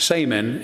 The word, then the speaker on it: saman: The word shaman actually has its roots in the Tungus language of Siberia, where it's pronounced saman and means those who